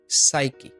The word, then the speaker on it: psyche: আমাদের ১ম নিয়মটা হচ্ছে P প্লাস S। আচ্ছা, P প্লাস S পরপর থাকলে এবং P এর আগে কোনো ভাওয়েল না থাকলে P অনুচ্চারিত থাকে। যেমন ধরুন PSYCHE। P টা অনুচ্চারিত হবে, সুতরাং উচ্চারণটা হবে সাইকি, সাইকি, সাইকি।